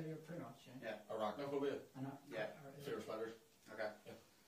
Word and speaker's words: arachnophobia: Anarachophobia indicates a fear of what?